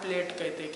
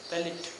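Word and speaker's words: palate: P-A-L-A-T-E, पैलेट। ठीक है, pronunciation उसको हम पैलेट करते हैं, या फिर प्लेट भी उसको जनरली लैंग्वेज में कहा जाता है।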